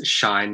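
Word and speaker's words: 死ね: english and in fact if you pronounce shine in japanese it turns into the imperative form of the verb to die so an alternative reading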